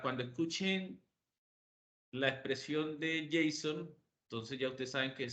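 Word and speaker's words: JSON: lo han escuchado mencionar y es el J Jason o Jason como como normalmente se le pronuncia verdad Jason Son son unas siglas en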